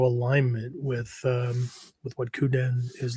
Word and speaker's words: kuden: leads off with um how to properly pronounce kuden because you and I have heard everything from that to kuden to I don't know all kinds of crap, right? So, but anyway, uh it's coupen, right?